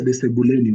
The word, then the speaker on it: sebule: Living room is what you call sebule or sebuleni. Sebule. Sebule. So you use sebuleni if you mean inside the living room. You use the word sebuleni. So you get the sebuleni or the sebule, which is the living room.